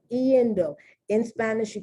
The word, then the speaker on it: iendo: You pronounce the I and the E.